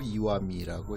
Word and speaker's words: 石見: 석견 이렇게 써놓고 이와미라고 읽습니다.